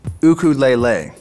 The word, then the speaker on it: ukulele: Hey man, nice ukulele. Thanks, yeah, I built it myself. Actually, in Hawaii, it's pronounced ukulele.